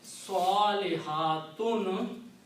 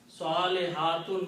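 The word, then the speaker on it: صالحات: So So the word is Salihatun. Salihatun means good women. Okay. One woman is Salihah and plural is Salihatun. When you stop, it says Salihat.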